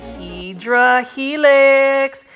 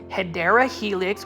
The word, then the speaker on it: Hedera helix: So if you are new to my channel, I love saying Hydra Helix. Even though that is not the correct way to say it, it is actually Hedera Helix, which is basically English ivy.